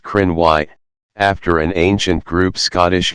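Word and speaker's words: Cruithne: following each other the periodic planetoid is named chrony pronounced Crenn why after an ancient group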